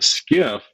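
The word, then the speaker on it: SCIF: a skip yeah so skiff stands for sensitive compartmented information facility spelled s-c-i-f but pronounced like s-k-i-f-f and when you go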